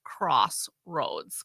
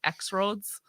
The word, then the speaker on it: Crossroads: I think it's funny that they have it's Crossroads 41, and they had to put in parentheses pronounced Crossroads because I think people were calling it X Roads Mhm.